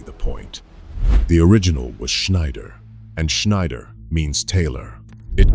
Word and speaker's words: Schneider: The German shish is a soft shish. The EI is a long E. Say Schneider correctly and an English-speaking